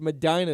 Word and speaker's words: Medina: It's Medina if you're from Ohio. Medina. It's the way you pronounce it.